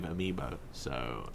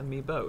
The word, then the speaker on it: amiibo: Just To be fair, I do now have 5 amiibo, so that's happening. Is it amiibo? It's not amiibos.